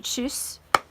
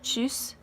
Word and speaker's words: tschüss: It'd be tschüss. So tschüss, it'd be like you're saying chew and then you put s at the end of it.